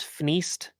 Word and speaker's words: F2CED: So it's pronounced Fneast, because ni is Japanese for two, but it's F2CED.